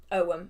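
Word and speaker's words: ogham: figure out what it is it sounds like om so it's o g h a m um it's just it's pronounced ow and it can be kind of confusing if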